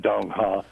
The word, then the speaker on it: Dong Ha: Which, do you say Dong Ha? How do you say that? That's correct, Dong Ha.